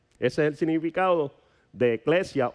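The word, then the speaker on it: ekklesia: Pero entonces, si buscamos el origen de esta eh de esta palabra iglesia, tenemos que ver que del griego viene eclesia. Se escribe con e k l e s i a.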